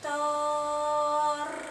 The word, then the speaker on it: Tor: Se agradece al Padre cruzando los brazos, brazo derecho sobre brazo izquierdo sobre el pecho, y se pronuncia el mantra Tor. Tor. Ya, es esta palabra alargada al final.